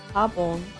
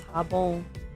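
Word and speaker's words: jabón: It's pronounced jabon. It's jabon. There's an accent over the O in Spanish.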